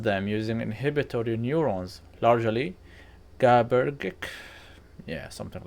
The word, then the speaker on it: GABAergic: It suppresses them using inhibitory neurons, largely GABAergic. Yeah, something like that. That feels wrong to pronounce. To be honest, it's GABAergic.